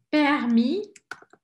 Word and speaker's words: permis de conduire: Permis, é como se o I fosse a sílaba forte. Permis de conduire. Opa. Vamos pôr uma apóstrofe. Apóstrofe, conduire. Permis de conduire. O D praticamente desaparece.